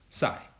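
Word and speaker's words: ψ: at least sigh and pronounced sigh like silent P okay so this is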